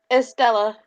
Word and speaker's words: Estella: He will meet the is it Estalia? Am I pronouncing Estalia? Estalia? Estalia? Estalia? Estella. Estella. She will shake his hand and she'll say, Estella, it's nice to meet you.